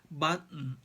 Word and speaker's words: button: Button. Most Americans don't say these words with a puffy t. They say them with a sound that's like the beginning of a small cough, or the middle.